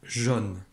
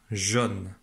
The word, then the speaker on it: jaune: Donc dans jaune, j'entends bien le son O, mais je ne vois pas la lettre O.